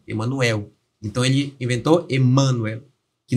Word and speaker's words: Emanuel: Só que como ele pegou essa palavra do latim, ele não percebeu essa contradição ali, porque no nosso português a sílaba tônica é na última, Emanuel.